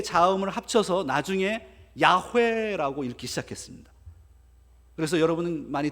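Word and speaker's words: 야훼: 그래서 그때부터 아도나이라고 부르기 시작했어요.이 이 단어를 아도나이 아도나이와이 내 자음을 합쳐서 나중에 야회라고 읽기 시작했습니다. 그래서 여러분은 많이 들어보셨죠? 여호와를 야회라고 읽기 시작합니다. 그게 유대인들이 여호와를 발음하는 것이었습니다.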